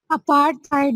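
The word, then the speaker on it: apartheid: अपार्थाइड movement, अपार्थाइड movement, ठीक है? अपार्थाइड movement या अपार्थाइड मूवमेंट कंबाइन करके बोलना है। अपार्ट है और फिर थाइड, आपने इनको कंबाइन करके बोलना है अपार्थाइड मूवमेंट।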